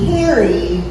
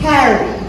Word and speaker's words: Carrie: In order to say my name correctly, you need to dig into your inner Jersey girl and add like an extra A-A-H-H-H to say Carrie correctly.